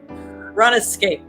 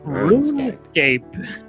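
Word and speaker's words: RuneScape: this game helped inspire dark souls escape run escape it is not rescape madam food i pronounce it the british way ghost um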